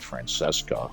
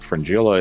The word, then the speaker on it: Fringilla: So I pronounced Fringilla's name wrong in the last video that I did. I said Francesca, which, okay, whatever. I've watched the series, but Fringilla is one of the